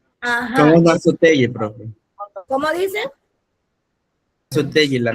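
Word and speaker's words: Naso Tjër Di: Nazoteye, profe. ¿Cómo? Nazoteye creo que se pronuncia. Nazutey, ajá, exacto.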